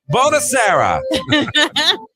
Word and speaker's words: Buonasera: Buonasera.